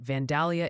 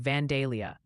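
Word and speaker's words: Vandalia: Oh, and Ryan, the chat's pronunciation committee has convened and they wanted me to gently inform you that Vanalia, Illinois apparently sounds more like Vanelia.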